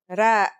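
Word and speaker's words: راء: Our first letter is Ra. Its closest English counterpart is the letter R, but it's a different sound that must be learned.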